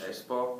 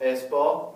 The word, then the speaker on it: Espoo: Espoo. Espoo.